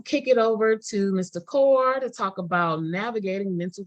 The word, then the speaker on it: Kaur: Kaur to talk about navigating mental health services. What you got for us, Mr. Kaur? Is it Kaur? Yeah, it's core.